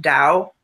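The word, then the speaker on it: Tao: call the Dow this.ta oh it's pronounced Dow which is a universal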